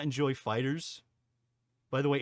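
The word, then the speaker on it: FighterZ: is it pronounced yeah it's pronounced Fighters not fighter Z I would love to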